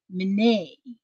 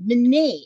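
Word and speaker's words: Mine: My name is pronounced Mene. Oh, Mene. Okay, thank you. Thank you. Mene, M-I-N-E, Mene.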